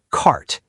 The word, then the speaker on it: cart: Word 1, cart.